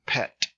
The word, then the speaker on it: pi: o sound P pronounced in math PI but in Greek it's pronounced P and the name is